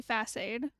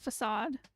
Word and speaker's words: facade: it as face facade i think some people say fast aid instead of facade i got bonked and